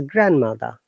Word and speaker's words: grandmother: not pronounce letter d in this case the word grandmother the d is silent is grandmother grandmother yes very good